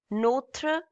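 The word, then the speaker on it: notre: Notra professor. This is n o t r e. This is called notra.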